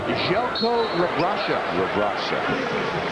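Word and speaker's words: Željko Rebrača: That's pronounced Željko Rabraša.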